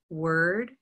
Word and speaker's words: word: red pepper every word what color is word word purple shirt word has has black cat